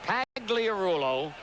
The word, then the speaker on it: Pagliarulo: the Mets last year Pags wants his name pronounced pagliarulo F oh did he